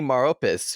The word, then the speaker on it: Maropis: also have mortal kombat's most famous necromancer adani maropis who played quan chi in mortal kombat conquest